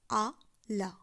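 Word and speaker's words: à la: সেই ক্ষেত্রে আমি বলবো আ লা। এই ক্ষেত্রে কিন্তু কোনো পরিবর্তিত রূপ নেই, শুধুমাত্র আ এবং লা একত্রে যুক্ত হয়ে উচ্চারণ হবে আলা, দেন সেই স্ত্রীলিঙ্গবাচক শব্দটি।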